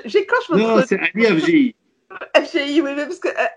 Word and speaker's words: Afdjei: Non, non, le D ne sert à rien. FGI.